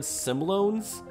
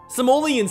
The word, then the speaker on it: Simoleons: You guys are the first to correct me when I mispronounce the word, yet nobody corrected me when I mispronounced the word Simloans? Simoleons sounds better anyways.